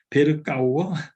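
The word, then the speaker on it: Berkouwer: 그다음에 굉장히 우리 뭐 버카우어 이 사람 이름 발음을 어떻게 하는지 궁금해서 구글을 찾아봤더니 베르카우어 네덜란드의 개혁주의 신학자예요.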